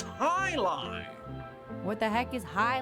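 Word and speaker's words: jai alai: What the heck is Jai Ali? I was just about to answer pronounced high lie.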